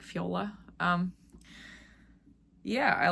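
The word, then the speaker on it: Fjola: in the show notes it's spelled FJ o l La a like Fiola um yeah I like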